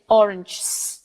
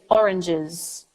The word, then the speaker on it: oranges: I'm not gonna say orange I'm not gonna go from the GTS I'm gonna say oranges oranges oranges 1 bus 2 buses